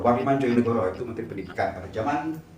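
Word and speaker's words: Djojonegoro: Wardiman bukan Jojonegoro, tapi Joyonegoro. Wardiman Joyonegoro itu Menteri Pendidikan pada zaman era Bapak Jenderal Soeharto.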